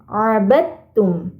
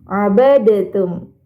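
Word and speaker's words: عَبَدتُّم: di ayat 4 ini pada kata abadum nah kenapa tidak dibaca dalnya abadtum Nah jadi di sini ada dua huruf yang sama makhrajnya tapi beda sifatnya ini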